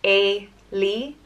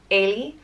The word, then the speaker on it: Éalaigh: The next name is Éalaigh, and it means escape or break free, and it's pronounced Éalaigh, Éalaigh, or Éalaigh, Éalaigh. And again, that just depends on where in Ireland you are.